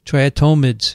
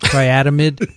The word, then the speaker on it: triatomid: many species of tritomide triatomides is that how you say it yeah not triatymid not triathlete atonement try it thomas these